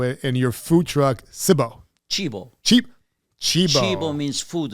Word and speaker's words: Cibo: And the history of your pizza business and how you got into it, and your food truck, Cibo. Cibo. Cibo. Cibo means food in Italian. Okay. So actually the pronunciation is called...